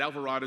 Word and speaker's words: Alvarado: They think of avocado and desperado and different things, but Alvarado is how you pronounce it, and I'm proud